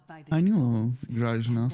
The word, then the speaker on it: Grażyna: Grażyna from Poland, but you never put the accent on the Y.